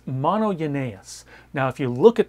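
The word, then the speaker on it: μονογενής: one word it's a compound word and it's mono yenus now if you look at that word and break out break it apart it looks like it says mono Gus it's actually pronounced mono yanus but mono is pretty simple most versions or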